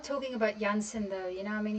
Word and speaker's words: Jansen: Uh why do you pronounce his name as Jansen? It is Jansen. Ya Jansen. It's not uh Jensen or Jansen. I know that some of you guys say that. It's Jansen.